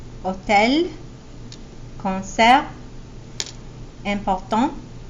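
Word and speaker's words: hôtel: so it's silent chocolate hotel here we don't we also don't pronounce the H in French Hotel con step and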